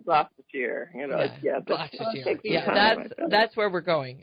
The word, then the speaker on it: Gloucestershire: Gloucestershire. Gloucestershire.